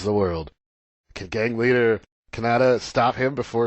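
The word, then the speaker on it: Kaneda: It's basically Canada with a slight, I guess, Spanish accent.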